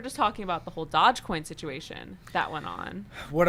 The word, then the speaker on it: Dogecoin: So with Dogecoin, it's actually pronounced Dogecoin. Is it really like the dog? Doge? Like the dog, yeah.